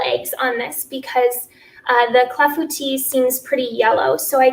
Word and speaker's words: clafoutis: I'm glad I said clafouti right.